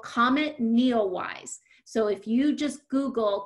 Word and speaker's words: NEOWISE: So it's called Comet Neowise. So if you just Google comet and it's spelled N-E-O-W-I-S-E and then type in NASA or astronomy, you